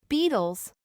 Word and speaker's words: Beatles: inglés americano, sonaría así, Beatles. reemplazando el sonido de la T regular por el de la flap T, por encontrarse la T en medio de dos sonidos vocálicos.